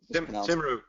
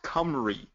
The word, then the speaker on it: Cymru: It's actually pronounced Cymru, but most people say Simru. But I talked to the guys who are behind the project, and it's in the original, I guess it's Gaelic, it's Cymru. That's how they said it back then? That's how they said it. It's pronounced Cymru. But everybody says Simru.